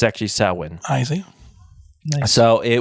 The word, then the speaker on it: Samhain: So, on October 31st, they would celebrate what's called the Samhain. Now, it's not spelled that way, but that's how it's pronounced. It's spelled like sanguine, isn't it? It's Samhain or something. Samhain is how it would